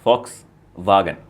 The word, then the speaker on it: Volkswagen: uh v o s Volkswagen Volkswagen volag Volkswagen yeah it's Fox vag oh and VA okay